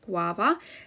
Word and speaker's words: guava: are spelling the word guava that when we hear that sound we remember to spell it with the u so g u a